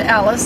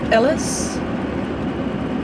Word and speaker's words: Alice: because when I mentioned Alice in a previous video I was saying her name wrong and it's Ellis Ellis am I getting